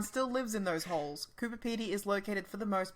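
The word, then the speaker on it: Coober Pedy: uh are you surely with the town of Cooper Petey very familiar and it's definitely one of the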